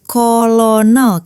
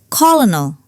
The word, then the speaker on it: colonel: It's often mispronounced as kolonal, right? But the English say colonel.